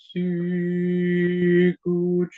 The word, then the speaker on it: Sicut: So when we have Sicut, and if we were doing it, it has 2 syllables like Cervus, like desiderat, like ad fontes, fontes, fontes, but Sicut, Cervus, desiderat, ad fontes, fontes, aquarum, aquarum. So the second syllable is softer than the first one, but you can still